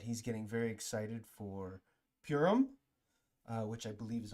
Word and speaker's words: Purim: that right let's see let's uh play the audio Pim Pim P Pim Pim Pim puim Pim all right so that's how you say it puim all right so it's